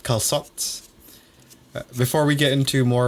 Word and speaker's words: calçot: Apparently that way just to signify that you pronounce the C soft instead of hard. So instead of saying calçot, you'd say calçot Calçot. or something like that.